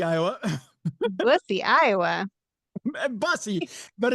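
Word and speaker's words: Bussey: But but some people may look at it and go, "Bussy, Iowa." Busussy, Iowa. Busy.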